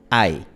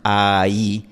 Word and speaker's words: ay: No decimos ahí, sino ay. De hecho, si tú pronuncias ahí, estarías cambiando el significado, porque tenemos en español la palabra ahí, que esta palabra se pronuncia a i. Así que tenemos ahí con diptongo, ahí sin diptongo, dos sílabas.